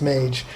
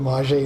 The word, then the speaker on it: Mage: around all the time it's Mage I just always called it Maji in my mind when I was a kid I didn't know what the word meant and I'd see those